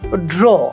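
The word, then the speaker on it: drew: আর একটা ওয়ার্ড ধরো, ড্র, আঁকা। এর পাস্ট টেন্স কি, আমরা কি উচ্চারণ করি? D-R-E-W, আমরা নরমালি বলি যে ড্রিউ। ড্র, ড্রিউ, ড্রন, that's wrong, it's ড্রু।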